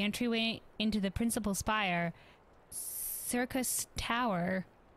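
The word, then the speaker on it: Syrcus Tower: In like manner, the entryway into the principal spire, Circus Tower, sure, but spelled with an S, the Allagan's Circus, whatever,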